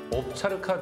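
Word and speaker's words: овчарка: 평양의 중앙동물원에는 러시아에서 온 옵차르카 두 쌍이 건강하게 자라고 있다는군요. 옵차르카요? 네. 저는 처음 듣는 동물이에요. 옵차르카는 러시아식 발음이고요. 우리식으로 하면 오브차카라고 하죠.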